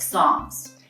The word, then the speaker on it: Psalms: I'll tell you, there's 150 chapters in the book of Psalms. And Psalms is spelled a little bit different than it sounds. It's P-S-A-L-M-S, Psalm.